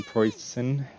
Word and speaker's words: Preussen: Today I'm just going to be doing a little intro review thoughts on the poison.